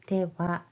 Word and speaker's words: では: As I mentioned it earlier, this wa is typed as ha, ha, and then pronounce it as では.